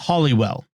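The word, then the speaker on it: Holywell: resurrected Saint and many miraculous healings although it's pronounced hollywell the business was in a three-story 18th century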